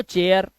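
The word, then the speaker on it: chair: rule कह रहा है सी एच ए आई के बाद आर तो चेयर ऐसे ही एफ ए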